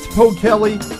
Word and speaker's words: Pockele: here we are we have the beautiful kate po kelly world's miss tourism 2012 did i finally say